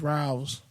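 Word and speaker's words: Ralphs: There's a P. There's not a V. Ralph's. You're saying Ralph's. Ralph. The P is silent. What the fuck are you talking about? You're saying it with a V.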